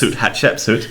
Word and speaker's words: Hatshepsut: Hatshepsut. Yes. When I wrote my book many, many years ago, I used the CH, Hatshepsut. They pronounce the same.